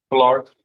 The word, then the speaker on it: Pollard: Pollard? Yes, sir. The accent is on the first syllable.